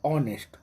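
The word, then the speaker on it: honest: एन लगेगा आन नेस्ट भले एच है भवेल नहीं है लेकिन इसको बोलेंगे ऑनेस्ट ऑनेस्ट अ आ रहा है तो आयन का प्रयोग होगा ऑनेस्ट मैन an hour O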